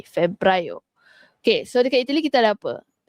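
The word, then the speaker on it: febbraio: Tapi disebut Febrio. Okey, Febro. Double B. Febra.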